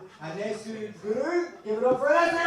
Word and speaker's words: Anesu Guru: But guys, my name's Anesu Guru, and if you can't pronounce that, don't worry about it.